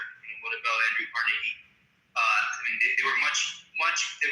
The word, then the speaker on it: Carnegie: for his employees far more than I respect Carnegie or Rockefeller. They were very greedy men. Okay, so pronounce his fucking name right.